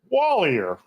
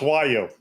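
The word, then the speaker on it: Wallior: Wallier, right? No, wrong. It's pronounced Wo. Why? I don't know. But that's a French pronunciation.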